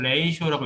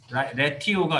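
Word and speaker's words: ratio: 그리드 008 그리드 시스템 안에 레이쇼, 이걸 레이쇼라고 읽어요. 레티오가 아니라 레이쇼 박스.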